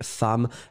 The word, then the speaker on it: femmes: Une femme, des femmes, la prononciation reste la même.